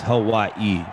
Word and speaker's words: Hawaii: Well, if you say it right, it's Hawaii. Is how they say it. Hawaii. That's how the Hawaiians say it.